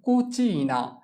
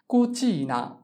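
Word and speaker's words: cucina: যেমন কুচিনা, কুচিনা। চি উ কু, চি ই চি, এন আ না, কুচিনা। কুচিনা অর্থ রান্নাঘর।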